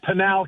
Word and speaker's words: Pinal: Sheriff Mark Lamb, is it Panol County? Is that how I pronounce it? Yeah, Panal County. Panel Panal County.